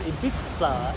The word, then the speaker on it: Ibiza: He calls it Ibiza, and I was like, that's a British Yeah. way of saying it.